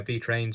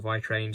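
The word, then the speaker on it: vi-Trains: pronounce it differently um i'm pretty sure it's very trained it's how you pronounce pronounce the name of the company anyway and yes it's a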